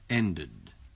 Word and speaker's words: ended: The meeting ended. Dengarkan perbedaan ucapan dari bunyi akhiran tadi. I missed. The meeting ended. Missed. Ended. Bunyi yang terakhir, ejaannya sama, yaitu ed, tetapi ucapannya berbeda.